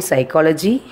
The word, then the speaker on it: psychology: Then psychic, then psychology, then pseudonym. In above all the words, the letter P is silent.